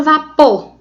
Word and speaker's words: vapor: A palavra vapor. Observe que a palavra vapor, logo acima, ela tem o pô como indicativo de sílaba tônica.